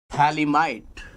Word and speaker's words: phthalimide: Gabbar in real, P is silent, phthalimide.